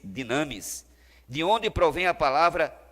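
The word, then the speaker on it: δύναμις: nesse versículo de romanos em grego é dona pronuncia-se dynamis de onde provém a palavra dinamite referindo se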